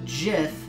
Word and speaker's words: GIF: matter so grammatically speaking yes it is gif but the inventor of the jiff says that it is pronounced where they heart you now he is